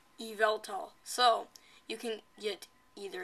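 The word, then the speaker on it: Yveltal: then for the pokemon y mascot it is pronounced evaltol evaltol so you can get either eval doll or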